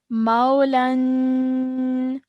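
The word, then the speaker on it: مولى: Now in when we want to pause, this fathatain will turn into a vertical fatha. Okay, so that's how we're going to pronounce it. We're going to say Maula.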